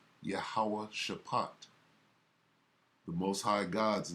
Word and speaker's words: Jehoshaphat: valley of jehoshaphat jehoshaphat the ancient uh hebrew pronunciation of jehoshaphat is yahuwah shapot the most high god's